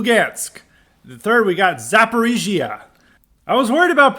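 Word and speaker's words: Zaporizhzhia: we've got Lou gansk the third we got zapparigia I was worried about pronouncing that one lastly because I was like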